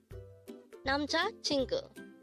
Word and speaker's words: 남자친구: 남자친구, 남자친구. This word is composed of 4 syllables.